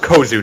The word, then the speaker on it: Kozuh: I'm sorry, it's pronounced Kozuh, not oh shit.